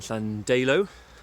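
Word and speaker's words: Llandeilo: went for a point in flandelo which is apparently how you say it and and i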